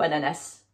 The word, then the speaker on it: ananas: Français a des variations est-ce que l'on prononce ananas ou ananas en fait les deux sont bons évidemment selon le Français